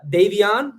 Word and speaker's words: Devion: Now, Davion, am I pronouncing that right? Yes. Davion, yeah, that's correct.